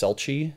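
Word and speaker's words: selchie: know ancient oral stories it might be spelled or pronounced selchi s-e-l-c-h-i-e or silky s-i-l-k-i-e and what I found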